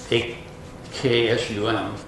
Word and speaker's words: Aksum: It's A-K-S-U-M. Most places I see it A-X-U-M. It's kind of pronounced the same way though, Aksum.